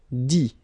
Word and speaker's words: dit: Dire, I-R-E, will become I-T, dit. Okay, phonetically, same thing here, you don't pronounce the final T.